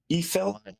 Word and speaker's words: yfel: Eiffel? YFEL, that old English. I mean, that reminds me of, phonetically, like Eiffel Tower out here in France, right?